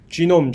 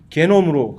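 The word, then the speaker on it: genome: 칭하는 거다라고 하자라고 해서 지놈이라고 이렇게 지놈. 그러니까 한국에서는 이게 지놈이 게놈으로 갑자기 발음이 변해가지고서 게놈 하는데 왜 옛날에 독일어 공부를 많이 하신 선배님들 때문에 그런 거죠. 그분들은 이걸 개로 해가지고서 게놈. 왜 게놈이야 이게? 그러면 지인도 기인이라 그래야지.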